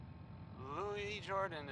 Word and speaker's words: Louis Jordan: Louis Jordan is up next. It's spelled Louis, but don't be fooled.